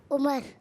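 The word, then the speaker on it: عمر: और अगर वाव नहीं लगा हुआ आखिर में तो फिर क्या पढ़ेंगे? उमर।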